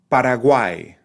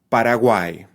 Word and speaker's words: Paraguay: means ox or oxen Paraguay the name for that country has a trip thong right at the end Paraguay okay that is it